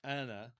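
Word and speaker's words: أنا: Um in Arabic it's Anna with a a longer a vowel at the beginning.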